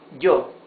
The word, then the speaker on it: yo: However, when it is followed by a vowel in the same word, like here, for example, look, this is yo. You see, it's a different sound. It's not E, it's J. J. It's yo. Yo.